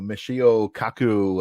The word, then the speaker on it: Michio Kaku: down all the time but uh you know Michio Kaku uh I think that's how you pronounce his name correct yes you know he